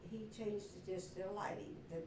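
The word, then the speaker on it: Leighty: I don't When they came over Germany, whenever it was, it's pronounced Ley.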